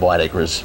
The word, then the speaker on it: Whitaker: I found out that the old English pronunciation of white Acres or Whitaker was white acres oh really okay but